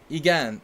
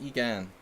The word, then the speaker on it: Egan: Egan. Egan. It's Egan. You're phonetically saying yes in Hungarian.